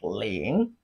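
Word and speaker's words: 零: Zero in Chinese is pronounced as ling, ling. It has a top tone of Chinese language, top tone, ling, falling and rising tone. But in case if it is difficult for you to record the pronunciation, you can use the ling in linguistic to record the sound, ling in linguistic.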